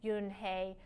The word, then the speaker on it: Yunhei: face some kids chanted no no yuen hey corrected it's spelled you n h e i it's pronounced oh it's